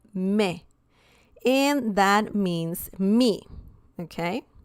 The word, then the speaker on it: me: Me, that's the pronunciation, me.